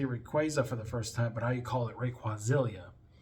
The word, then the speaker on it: Rayquaza: Sapphire, and Emerald when I used to say Rayquaza for the first time, but I call it Rayquazilia. And yeah, I know, right? And it wasn't until Destiny Deoxys they say Rayquaza, and I was like, oh.